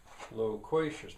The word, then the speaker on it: loquacious: Loquacious, my loquacious family. And we dealt with this, how many syllables, which one's stressed. Loquacious is stressed, my loquacious family.